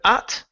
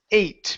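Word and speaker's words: ate: right here instead of at this word here is pronounced eight because of the long e or the e at the end of the word so Matthew 82 hot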